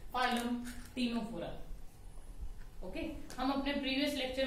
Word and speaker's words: Ctenophora: So come with the next phylum, that is टीनोफोरा। C silent है बच्चे, इसलिए हम लोग इसको बोल रहे हैं टीनोफोरा। ठीक है, इसको सिटीनोफोरा नहीं बोल रहे, राइट।